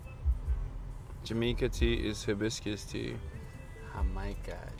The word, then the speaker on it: jamaica: Jamaica. You know we don't pronounce the J with a J. Jamaica.